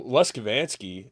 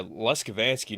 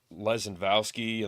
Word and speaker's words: Leskovansky: Well, Leskovansky is, that's how you say it, but they could just say Lesko for all I care. That's my nickname. But yeah, Leskovansky. Now they would say like Lezenvowski and Lebanowski, and it was.